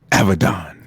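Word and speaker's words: Avidan: when you're unmarried it is a V I D a n pronounced Avedon say what me now Avedon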